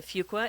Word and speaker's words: Fuqua: You can tune in to the Veterans Transition Research Initiative through Duke, the Fuqua, F-U-Q-U-A, and it's FU, not Fuq. It took me a while to learn how to say it, and I believe Dr.